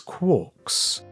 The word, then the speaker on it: quark: talking about his ideas referred to the subhadronic fragments as quarks rhyming with pork but he never considered